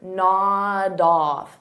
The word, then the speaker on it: nod off: it as one word, nod off. So notice I'll take that D sound and I'll connect it on the off, but I have to combine it together.